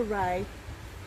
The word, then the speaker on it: Rea: That's it, spelt like sea, pronounced like the sun. The River Ray along the side of Northfield.